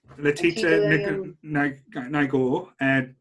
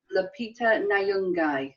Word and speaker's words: Lupita Nyong'o: Lupita Nyong'o, that's how you say it.